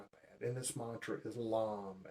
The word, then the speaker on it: LAM: And this mantra is LAM, L-A-M.